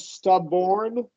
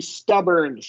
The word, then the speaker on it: stubborn: Uh and then right here it sounded like you said stubborn like or and it's going to be at the end it's going to be stubborn. R. Oh stubborn. Okay. Okay. Like burn like I burned myself stubborn.